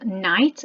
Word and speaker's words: knight: with our eyes okay this one here is night and it's got a silent k on it okay and